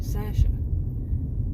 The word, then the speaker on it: Sasha: Now, she pronounces her name Sasha, and she works.